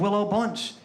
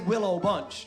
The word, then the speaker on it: Willow Bunch: You guys don't say Willow Bunch. You say Willowbunch.